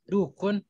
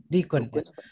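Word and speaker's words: ديك: Nah, dalika dukun wa tilka dajajatun. La, dikun. Taib, Bayu. Iya, dikun bukan dukun.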